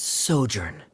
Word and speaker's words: sojourn: everything clear uh director zosimos how do you pronounce this word let me see Ah that's sojourn it means to stay for a while this